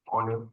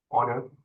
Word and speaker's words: honor: h n o Ur it should be pronounced without the H honor it's like our instead of power so it's our So Silent H honor and then we have